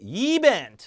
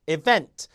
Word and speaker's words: event: 이걸 여러분 만약에 event 이렇게 발음한다든가 effort 이렇게 발음하면 아예 못 알아들어요. 그러니까 effort, event, recently가 아니라 recently 요 중간 음절은 쓴으로 죽이게 돼 있거든요.